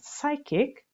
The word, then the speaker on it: psychic: to be strong a psychic okay P is not pronounced here psychic bond is let's say